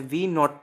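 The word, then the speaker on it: v₀: velocity से cover करी v not velocity से ख की है य जोवी के आगे जीरो है हम इसको प्रोनाउंस करते हैं v नॉ इसे याद रखिएगा और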